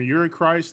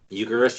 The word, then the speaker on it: Eucharist: From Yuri Christ, I get like this kind of rhinestone cowboyish kind of Billy Wood song. Eucharist, you mean?